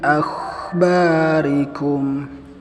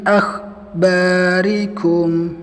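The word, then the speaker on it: أَخْبَارِكُمْ: Ketika pengucapan huruf kha kita tunaikan rikhwahnya, jadi tidak terputus dengan ba. Contoh yang salah seperti ini, min akhbarikum, nah itu terputus, jadi tidak menunaikan sifat rikhwahnya kha.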